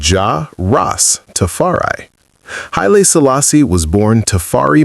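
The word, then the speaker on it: Jah Rastafari: He is the man Rastafarians call Ja Rastafarai pronounced as Ja Ross Tafari.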